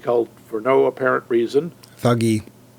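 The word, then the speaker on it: Thuggee: Thuggy. I've heard Thuji. That's where we get the word thug. Yeah, but that's because of mispronunciation. Never heard it pronounced anything but thuggy, but that's okay.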